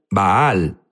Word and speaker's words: Baal: la Biblia habla es Val Jesús habló sobre Val unos dicen baal baal es la pronunciación correcta correcto pero sabes qué es